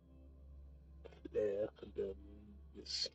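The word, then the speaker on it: fleur-de-lis: Fleur de lis. Fleur de lis. That's how you say it. In the French pronunciation.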